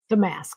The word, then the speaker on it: Damask: Damask? Damask, yeah.